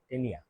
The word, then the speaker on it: Taenia: তো টেনিয়া বানানটা দেখো, TAENIA, টেনিয়া। আহ, আবার ভুল করে তানিয়া লিখে দিও না।